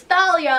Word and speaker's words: Thalia: for like 5 years it's Thalia apparently I'm still saying Talia I can't bring myself to say Thalia it doesn't sound right yeah so far that's